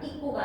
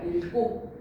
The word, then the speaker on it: 읽고: 어미의 첫소리 기읍 앞에서는 리을 기역으로 발음해라. 익고가 아니라 읽고 익거가 익게가 아니라 읽게라고 발음해야지.